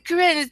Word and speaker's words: Coren: Yeah, because when you're calling out, oh, follow me on Twitter at Corinne, but it's spelled Coren.